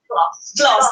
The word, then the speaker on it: Glost: Is it Glost or Glost? Glost, thank you.